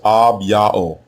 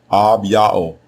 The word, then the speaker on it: Abijah: The way you pronounce his name is Abao. Abao.